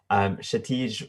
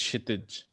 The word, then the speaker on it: Kshitij: Shatij. Can you go ahead and unmute yourself? Yeah, it's Kshitij, actually.